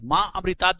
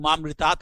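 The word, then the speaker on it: माऽमृतात्: ओम त्र्यंबकम यजामहे सुगंधिम पुष्टिवर्धनम उर्वकमवन मृतुक्ष मामृतात देखिए मां अमृतात जब बोलते हैं तो कुछ लोग मामृतात बोल देते हैं वहां थोड़ा सा अ का उच्चारण आना चाहिए मामृतात का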